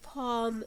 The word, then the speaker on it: palm: And we have the word palm اللي هي معناها نخيل, and the L here is silent.